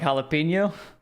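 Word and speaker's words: jalapeño: all I know is never say the Jay it's always a trap that's what I that's what I've learned always a trap ja something like that it's always it's always silent oh like jalapeno jalapeno not jell if you You Can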